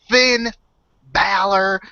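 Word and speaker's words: Bálor: Anyway, we got Tyson Kidd going up against Finn Balor with the accent on the A.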